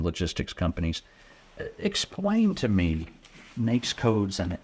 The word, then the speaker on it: NAICS: NAICS You codes.